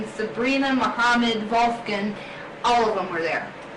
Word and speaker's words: Wolfgang: It's pronounced Wolfgang in Yeah, English, right. but it's Wolfgang. Wolfgang in German.